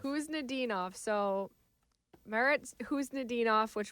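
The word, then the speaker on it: Khusnutdinov: is it's a silent it's a silent k who's ninov who's nenov so Meritt who's ninov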